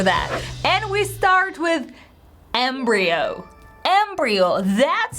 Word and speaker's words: embryo: could but it's an embryo and by the way I love the transcription embryo oh D thong at the end with a stress on the first syllable Embryo Embryo the basic